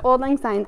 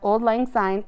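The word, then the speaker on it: auld lang syne: let you know that old-line sign is spelled here differently than we would hear it the word ald a-u-l-d means old lang l-a-n-g means long and sine s y and e means since or long ago so it's all about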